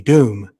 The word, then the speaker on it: Dhoom: If you listen to the song Doom Machale, it's from the movie Doom.